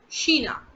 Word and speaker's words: China: that is das afrika spelling is absolutely safe but just the pronunciation is different that's sheena okay which are still